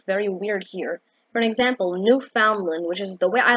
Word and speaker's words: Newfoundland: weird here for example newfoundland which is the way i like to pronounce it which is a province of canada people pronounce it new finland like new finland you know that country in scandinavia and nordic wait it's